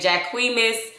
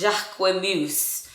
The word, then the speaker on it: Jacquemus: right because y'all i was saying jack queen miss jack jacquis i was saying all kind of crazy stuff y'all i'm from georgia y'all so y'all know how we are but nonetheless it is pronounced jacqueline moose so um it is french and um he is